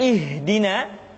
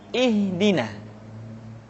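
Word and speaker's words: اهدنا: Perhatikan, huruf ha seringkali diucapkan dari dada. Ha. Ingat, di dalam makharijul huruf kita tidak mengenal pengucapan huruf-huruf dada. Tidak ha, tetapi ha. Tidak ihdina, akan tetapi ihdina.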